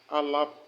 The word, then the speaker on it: ALARP: The next topic we are looking at is ALAP principle. ALAP is spelled ALARP. ALARP.